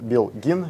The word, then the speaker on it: Belgin: лубикс бренд лубрик сделает белгин биогин читается правильно по-турецки произносится именно так этот бренд достаточно завод